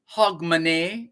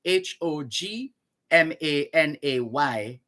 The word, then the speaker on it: Hogmanay: year on new year's eve which is called hogmanay in scotland h o g m a n a y in scotland hog monet in scotland in the united kingdom that's what